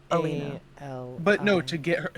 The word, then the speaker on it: Alina: Arena? How do we spell that? Alina. It's Alina.